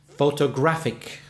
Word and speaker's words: photographic: And the adjective? Photographic. Photographic. 4 syllables, but this time the third syllable is stressed. De-de-da-de. Photographic.